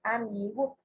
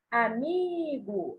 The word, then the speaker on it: amigo: para a gente canta a palavra amigo amigo a sílaba tônica que a gente fala por um maior tempo com maior intensidade é um me a sílaba tinha do meio e não era a última a seção 4 qualquer